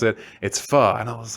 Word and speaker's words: pho: And when we first pulled up, I was like, "What's pho?"